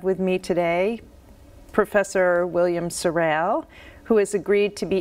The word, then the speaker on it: Seraile: be interviewed for historical accuracy would you kindly pronounce and also spell your full name William Sorel s-e-r-e-i-l-e thank you so I was hoping that